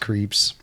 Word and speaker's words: CREEPZ: Nobody can pronounce it correct. It's just creeps.